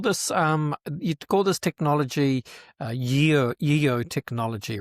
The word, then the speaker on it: YEO: Sure, it's YEO. It's pronounced Yo, and it's Your Eyes Only is what it stands for.